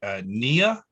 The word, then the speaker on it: Knia: Next up is, I hope I'm pronouncing this right, Knia. Thank you very much. My name is Knia.